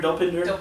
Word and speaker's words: Dopinder: Dopinder, yeah.